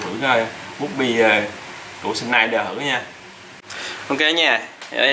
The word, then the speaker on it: Schneider: hiệu Đức luôn nha, gọi là Schneider, biết đọc đúng không? Tiếng Đức ha, Schneider.